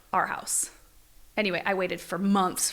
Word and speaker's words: Arhaus: It's Arhaus. Yeah. Our House.